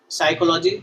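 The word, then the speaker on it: psychology: अब देखो सोरियासिस हो, अच्छा है, ये लास्ट के तीनों वर्ड देखो, साइकोलॉजी, सोरियासिस और साइकियाट्री, इनमें से क्या है? ये पी, हर जगह पी क्या है? साइलेंट है भाई, पी साइलेंट है।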